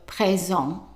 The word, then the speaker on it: présent: And remember the EN is pronounced as an en. So présent, présent. And the T is silent.